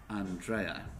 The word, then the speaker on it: Andrea: plan especially written for her name is actually an trai and I apologized Andrea